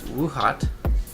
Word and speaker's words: Woohot: the brand let's see whoo whoo hot that's how I pronounce it whoo hot hot